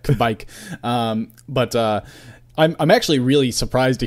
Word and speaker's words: Kveik: Kveik. I'm actually really surprised to hear you say new yeast. Maybe certainly new to a lot of us, like as American brewers, but right. Kveik yeast has been, just by definition, it's a